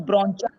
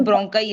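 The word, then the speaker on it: bronchi: It's spelling is like ब्रोंचा, लेकिन उसकी sound ब्रोंकाई आएगी।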